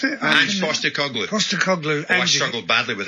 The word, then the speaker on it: Postecoglou: Angie, how do you pronounce it? Ange Postecoglou.